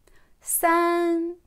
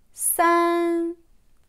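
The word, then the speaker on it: 三: San. San. Premier ton.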